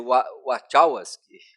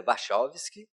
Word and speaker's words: Wachowski: e dirigida pelos irmãos, em inglês seria Wachowski, mas é Wachowski, que se tornaram irmãs.